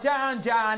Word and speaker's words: Jan: Oh, Jan, it rhymes with ham.